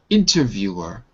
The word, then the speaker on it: interviewer: So, you got you got to put the W at the at the beginning of that syllable.